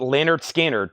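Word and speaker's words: Lynyrd Skynyrd: from the analog Masters pronounced Leonard skinnard 2 LP 45 RPM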